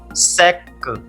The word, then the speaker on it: sec: There is a word sec. Sec. Sac, which means bag. Here, the last letter is C, so we pronounce consonant C in the word sac.